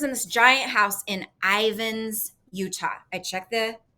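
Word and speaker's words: Ivins: so she lives in this giant house in Ivan's Utah I check the pronunciation on that that's correct all right so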